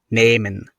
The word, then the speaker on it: nehmen: If you have the letter H after the letter E, then the letter H is not pronounced and the letter E is longer. For example, nehmen.